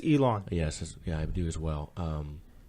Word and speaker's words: Elon: player from, I believe the school's name is pronounced Elon or Ellen. Or I think it's Elon.